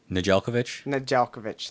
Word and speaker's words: Nedeljkovic: Nedeljkovic, thank you.